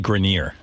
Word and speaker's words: Grenier: It's actually Grineer.